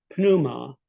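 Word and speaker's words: πνεῦμα: yeah but in Greek in English we have a silent P but in Greek it's pronounced yeah consonant clusters is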